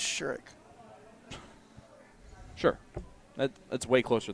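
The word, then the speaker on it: Sherrock: Fallon sherik too well I learned to say her name rightly it's sherck sure that that's way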